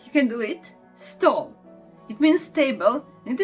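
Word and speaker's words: stol: This is stall. Right, you can do it. Stall. It means stable, and it is pronouncing like s, t, o, l.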